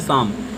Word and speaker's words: psalm: की इंग्लिश होती है शाम, PSALM, PSALM, शाम मीन्स होता है भजन। वहाँ पे P और L हमारा साइलेंट होता है।